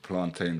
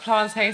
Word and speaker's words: plantain: There was like, searched Ebony on Pornhub for the first time, and Plantain Supernova. I love that. Plantain supernova. Not plantain, plantain. Plantain supernova. Yeah, it wouldn't rhyme with champagne.